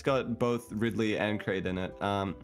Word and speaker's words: Ridley: to correct your pronunciation it is Ridley not rightly listen here listen here